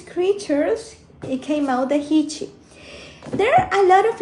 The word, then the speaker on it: Jichi: of a water God the hichi this is pronounced he that's the name of